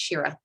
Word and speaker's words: Shira: Oh, by the way, just so you know, my first name is pronounced Shira, just so you know.